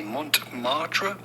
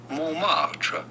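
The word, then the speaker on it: Montmartre: how to pronounce that midle is silent so do not say Mont marra but rather m marra two years ago I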